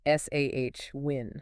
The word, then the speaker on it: Samhain: It is pronounced S-A-H-win. S-A-H-win. Yes. The first part is like the sow in sow a seed, but without the W-H-A-T-H. And the end is just win.